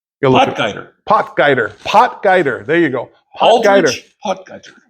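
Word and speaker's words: Potgieter: couldn't even say his name potger pot guider pot guider there you go po potger great great anunciation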